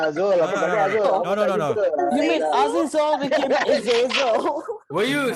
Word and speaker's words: Azazel: You mean Azizol became Azazel? Were you saying Azizol lah? No, Azizul lah. Azazel. Azazel. Azazel. Zul. Azazel. Yeah, it's that character Ah. from X-Men. Rhymes with Hazel.